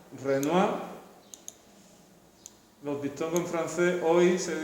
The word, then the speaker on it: Renoir: este caso se pronuncia renoir los dictados transfer hoy se dice o el renoir si produce mucho la r y en este caso si no pronunciamos la última consonante venga monet renoir aunque hay muchos más